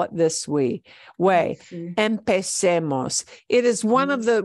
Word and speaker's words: empecemos: Even though I switch from a Z to a C, C-E is still say. So it's still empecemos.